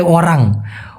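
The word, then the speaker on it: orang: ওয়ারাং মানে ওরাং ও মানসিয়া এই দুইটার মধ্যে পার্থক্য কি? দয়া করে জানাবেন প্লিজ। ভাই মূলত সঠিক উচ্চারণটা হবে ওরাং।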